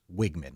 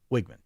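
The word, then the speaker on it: Wiegman: And it's pronounced Wigman. Like he's wearing a wig.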